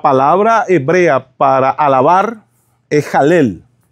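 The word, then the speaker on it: הלל: Inclusive, la palabra hebrea para alabar es Halel. Se escribe Hei, Lamet, Lamet. Halel.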